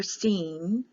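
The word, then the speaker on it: סין: s or an s i sin c is pronounced like an e so it's sheen or seen so when you go through the hebrew the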